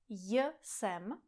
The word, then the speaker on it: jsem: JSEM. But you don’t have to pronounce the “J” here.